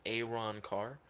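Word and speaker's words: Arrancar: He said especially the songs from Aranchar, pronounced Aaron Carr.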